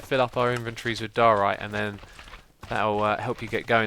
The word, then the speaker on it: Diorite: Diorite. Like diet right? Diorite.